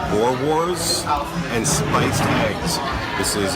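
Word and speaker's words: boerewors: Okay, so for my appetizer, I had I think they're It's pronounced Boer Wars, and spiced eggs.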